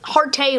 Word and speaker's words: Harte: Harte rhymes with parte, not really sure why they call it that.